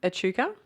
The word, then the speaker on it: Echuca: Echuca.